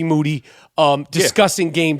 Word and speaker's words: Moody: to here with G Moody whose last name rhymes with duty has to say let's